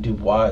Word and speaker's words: Dubois: Even though it's not spelled like the real Dubois. I think Dubois is D-U-B-O-I-S.